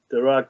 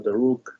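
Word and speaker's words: Dharug: Yeah, again, similarly, Darak or Daruk, heard a different pronunciation there as well. But it is, I say Darak country here.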